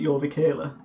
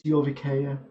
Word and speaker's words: Jorvikea: And everyone who's not been there calls it Jorvikela. And then that like really obnoxious guy goes, it's Jorvikea. Come on. You don't pronounce the L.